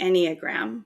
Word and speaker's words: Enneagram: It's called the Enneagram. That's how it's pronounced.